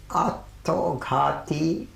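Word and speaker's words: আত্মঘাতী: It is called, I'll pronounce it in the Bengali way, Attoghati Rabindranath, self-destructive Rabindranath.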